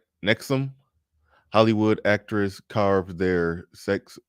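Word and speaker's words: NXIVM: Matt from Tinder says it is pronounced Nexum.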